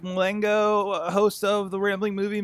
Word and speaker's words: Mulango: Mulango. That's you. Mongo, as I heard today.